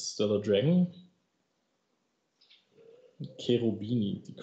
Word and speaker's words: Cherubini: Cherubini, the correct pronunciation.